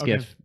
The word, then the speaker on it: GIF: now you understand why even though the guy calls it jiff why I still say no it's gif I know I can